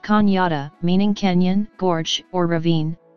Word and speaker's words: Cañada: La Canada comes from the Spanish word Canada, pronounced cañada, meaning canyon, gorge, or ravine.